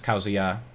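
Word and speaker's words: Kazuya: other platforms back in december um and yes causia is the correct pronunciation of the new character the new fighter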